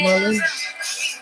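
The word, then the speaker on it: Mullein: Took some Mullen. That's how you pronounce it, Mullen.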